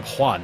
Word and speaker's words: Juan: Jean. No, I'm Juan. Thank you very much.